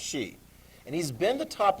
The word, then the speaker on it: Xi: top most important leader is she exi is pronounced she and he's been the top leader of china